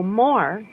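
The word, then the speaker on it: Moore: more Oklahoma more yeah can you spell that m o o r e oh more yeah more okay said what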